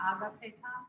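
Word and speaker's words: ἀγαπητός: So you want me to say agapetos? Oh, I'm not hearing. Okay, that's fine. Okay, I've always pronounced it, listen to other people say it, agapetos, agapetos, but that kind of puts the emphasis.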